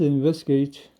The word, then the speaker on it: investigate: The Pharisees investigate the healing. 그 페르시스들이, 이 발음은 F 발음이고요. 페르시스 이렇게 하시면 되는데 우리가 말하는 바리새인입니다. 페르시스가 investigate 한글로 적으면 V 발음 investigate 이렇게 하거든요.